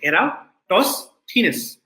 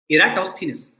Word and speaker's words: Eratosthenes: sieve of eratosthenes and this is how you pronounce the name you say era toss thinness okay eratosthenes so this thief alcohol